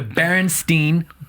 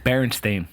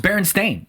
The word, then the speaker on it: Berenstain: the mandela effect and one of the more well-known mandela effects are the berenstein bears berenstain berenstein berenstain it's berenstein this is baron's thing what